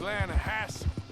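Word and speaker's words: Lannahechee: The other day, I rode down to the Lanahatchee River. I caught some beautiful steelhead trout. You mean the Lanahatchee River? No. The Lanahatchee. It runs right near here. Yeah, but it's pronounced Lanahatchee.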